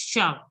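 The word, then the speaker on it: chat: But generally in French, the last letter is not to be pronounced. So don't pronounce T. So it has to be pronounced as sha. Sha. Okay? Understood? Sha. CH is pronounced as SH. So it will be sha.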